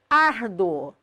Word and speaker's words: árduo: Árduo, sílaba tônica da palavra árduo, ar, penúltima, terminada em ditongo crescente UO, obrigatoriamente acentuado.